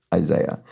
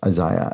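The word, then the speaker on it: Isiah: and Brian parente explains Isaiah Thomas is in fact pronounced in the normal way like Isaiah not Isaiah as I was speculating um based on its spelling so sorry about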